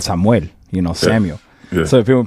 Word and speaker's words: Samuel: I want to be called Samuel, you know, Samuel." So if people call me Samuel, I like if you can, I like for people to pronounce it in Spanish. Samuel.